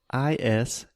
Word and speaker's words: island: word Island Ilya is i-s-l-a-n-d so there is an S right there in the beginning but we don't say that so this is kind